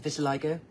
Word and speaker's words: vitiligo: pd2 yeah now buy to like I always mispronounce it Vitiligo yes okay so for those who don't know